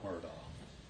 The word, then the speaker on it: Murdaugh: Fox it is our honor to represent Alec Murdoch Homer doc depending on how you pronounce it I say it's our honor because